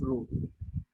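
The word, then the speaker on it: rho: हाँ रो या सिर्फ रो ग्रीक वर्ड है. PHRO रो पढ़ते हैं इसको. रो पी साइलेंट है इसका.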